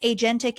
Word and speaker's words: agentic: Let's talk about what agentic AI is. Am I pronouncing that correctly?